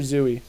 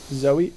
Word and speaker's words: Zoe: of the episodes yep is it Zoe or zoie I never know a marshmallow yeah Zoe okay just regular Zoe zooie de Chanel de